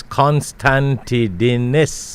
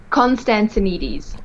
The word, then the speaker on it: Constantinides: and to get a full name it's constantine and i hope i did that correct did i it was almost correct almost correct almost correct but it was don't worry how do you pronounce it constantinides constanti denise wonderful wonderful well i'll stay away